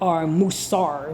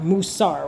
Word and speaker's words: musar: If you were saying it, if you were spelling it phonetically, it would be like Moosawr, musar, right?